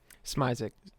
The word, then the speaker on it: Smizek: sam how do you say your last name smizek slower please that's smize that's good uh